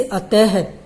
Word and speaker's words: अतः: में लगती हैं और इनका उच्चारण है की भांति होता है, यानी कि जब हम इनको बोलते हैं तो है जैसी ध्वनि उत्पन्न होती है। जैसे अतः, अतः, प्रातः, ये विसर्ग के उदाहरण हैं।